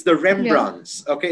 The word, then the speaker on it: Rembrandts: Rebunt.